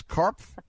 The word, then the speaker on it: Karpf: is written by Ann Karpf, and the P is not pronounced, correct? Well, the P actually is pronounced, but I answer to almost anything, so no, I want to do the correct thing.